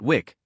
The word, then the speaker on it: WIC: Everyone in fighter aviation calls it Wick, pronounced as a single word.